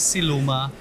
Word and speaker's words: Siluma: Right, and I want to make sure the name of it is Siluma. Yes. Am I pronouncing that correct? You are pronouncing it absolutely correct. It is Siluma.